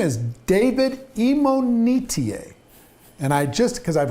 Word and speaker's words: Imonitie: uh in this conversation his name is david imo netier and i just because i've heard it pronounced five different time five different ways right he finally corrected me and well educated me emo metier you got it and uh he's a phenomenally